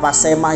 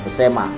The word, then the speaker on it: Besemah: Nama Pasema yang kini dikenal sebetulnya adalah lebih karena kesalahan pengucapan orang Belanda. Demikian menurut Muhammad Saman, seorang budayawan dan sesepuh Besema. Adapun pengucapan yang benar adalah Besema, sebagaimana masih digunakan oleh penduduk yang bermukim di Pagar Alam, suku Besema, yang sering